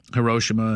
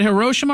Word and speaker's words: Hiroshima: asking him about um hiroshima and nagasaki is it hiroshima or hiroshima chad hiroshima i'll never say it like you do sorry i'll try nagasaki